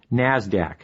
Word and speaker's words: NASDAQ: stock exchange nyse and the nasdaq which is pronounced nasdaq nasdaq stands for the national association of securities